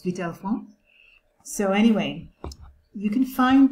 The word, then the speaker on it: Vitalfan: It's Vitalfan. Well, this is how the American pronunciation is, but in French, it's Vitalfan.